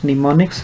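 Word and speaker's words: mnemonics: Are used called निमोनिक्स, ये लफ्ज़ निमोनिक्स है, इसमें M साइलेंट है।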